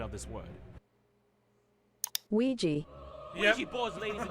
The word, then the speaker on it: Ouija: It may seem unrelated, but I've asked a data analytics expert to give us the proper pronunciation of this word. Ouija.